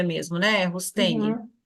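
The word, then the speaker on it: Roustaing: Então, eu gostaria de saber o seguinte: esse Rusteng, é assim que se pronuncia mesmo, né? Rusteng.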